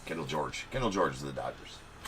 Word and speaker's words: Kendall George: There's a Kendall Jorge. Kendall George. Kendall George is the Dodgers. always wanted to call him Kendall Jorge, but I don't think that's how you pronounce it.